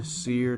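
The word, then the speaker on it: SERE: are your thoughts on seer training seer is spelled s e r e and basically just to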